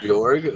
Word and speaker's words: Jorg: i guess i'll look at um hey forgot the name how do you say his name georg jorg okay you say georgia with a hard g at the end i'll look at your